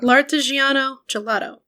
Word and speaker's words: L'Artigiano Gelato: There's an L, and it's oh my god, I've messed it up myself. L'Artigiano Gelato.